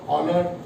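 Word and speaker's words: Euler: अंग्रेजी में यूलर को ऑलर प्रोनाउंस करते हैं।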